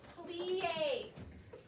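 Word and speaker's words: plié: Okay, all right, so the first one, how to say it, plie.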